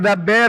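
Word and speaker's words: דַּבֵּר: Ini Deper pastor atau dapar. kenapa ini? Sebentar. Jadi Sabar pronunciation ini dulu. harus jelasin dapar atau deper supaya jelas. Ada orang di sini. Dabber boleh, Dabber.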